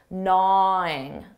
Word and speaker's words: gnaw: contraction in spoken English notice that pronunciation for na that g is silent na nwing her comments Beena